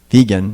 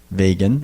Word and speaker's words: vegan: pronounced he said it's de GaN and it's pronounced vegan not vegan or veg and anyway he said veganism is